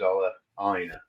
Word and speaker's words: Ola Aina: Ola Aina, but then he did one of the Premier League where they all reveal themselves and how their name is to be pronounced. And he decided he was Ola Aina.